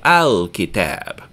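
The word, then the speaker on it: الكتاب: A kitab is a book, and you pronounce ka back in your mouth, so we say al-kitab.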